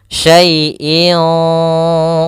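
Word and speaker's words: شَيْءٍ: Kemudian pada lafal syaiin. Di sini ada bacaan lin pada lafal syai. yaitu adanya huruf ya sukun didahului dengan huruf fathah. Maka kita namakan dengan ee bacaan lin yang di mana di sini ya-nya tidak harakat titik tapi tetap saja karena dia berbentuk ya ini dalam bentuk rasem ya saaiin qodir.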